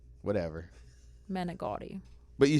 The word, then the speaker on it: manicotti: Manicotti. But you say you say manicotti. It's not like you're pronouncing an I.